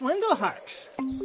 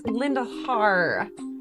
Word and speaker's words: Lindelheart: Lex Lindelheart. So good of you to meet on such short notice. Yes. And it's Lindelhar, not Hart.